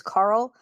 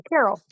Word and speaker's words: Karol: whose name is Carl, but it's spelled Karol. I grew up with a guy that worked with my dad whose name is Carol. So I see the name and I go, Carol. It's Carl.